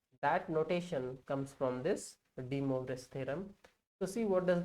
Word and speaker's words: De Moivre's: Now next theorem comes is De Moivre's theorem. Just I will spell it for you. DE dash Moivres. De Moivre's theorem.